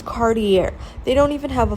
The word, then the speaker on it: Cartier: Like, it's, David Yerman, Dave, and, and then it's like, they can't even pronounce Cartier. It's Cartier.